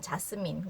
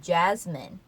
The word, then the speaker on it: Jasmine: 미국식 발음으로 해서 보자면 A가 미국식 영어에서는 에 발음이 되는 경우가 많죠. 아 발음보다는 apple, ant 이런 경우처럼 그쵸. 그래서 이 자스민도 아 발음보다는 에 발음으로 돼서 jasmine, jasmine 이렇게 됩니다. jasmine, jasmine 그리고 스 발음보다는 z에 가깝게 jasmine이 되죠. 그래서 자스민 공주가 아니라 프린세스 자스민이라고 합니다.